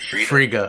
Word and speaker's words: Friga: Friga.